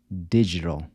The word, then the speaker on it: digital: How would you say “digital”? Digital —remember the “d-i” is pronounced like a “j” and the “l” at the end sounds like a “w”—“di-gi-tal”.